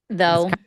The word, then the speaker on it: though: Why do we have like the weird How many times do we have gh in the middle of a word that you just don't really pronounce at all? Though.